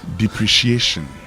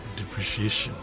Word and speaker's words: depreciation: Depreciation. Depreciation. Uh many of us are tempted to pronounce the word depreciation as depreciation.